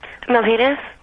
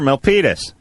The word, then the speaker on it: Milpitas: Let's just quickly talk to Melanie, because this is, first of all, I can't pronounce the town you're from. Where are you from? Milpitas. Sure, Milpitas.